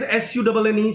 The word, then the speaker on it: Sunne: When I speak सन, so don't you think like the spelling says SUNNE, sun, that is you know, that archaic spelling of sun, or the French influenced spelling of sun, that is that star.